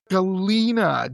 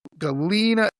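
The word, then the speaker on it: Galena: And how do you spell it? Galina. G A L E N A. Yeah. Okay. Galina.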